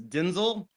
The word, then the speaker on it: Denzel: I did watch an interview and he in fact said that the the correct pronunciation of his name is Denzel.